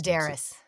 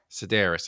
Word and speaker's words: Sedaris: Sedaris. Sedaris.